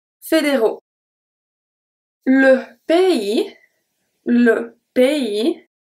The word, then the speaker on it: pays: Le pays. The S at pays is not pronounced.